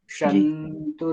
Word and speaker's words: सन्तु: वो जो है ना, जो सर्वे शंतु शंतु, वो शंतु ऐसे थोड़ा लॉन्ग नहीं बोलना है। जी शंतु निरामयाः, तो जी क्योंकि वो ना छोटी मात्रा है, उसकी बड़ी मात्रा नहीं है, बस वो थोड़ा ध्यान दे लेना, बाकी ठीक है।